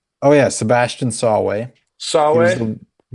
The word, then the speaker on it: Sawe: They're hard to pronounce. Swo Swoae, right? Oh, yeah, Sebastian Sawe. Sawe.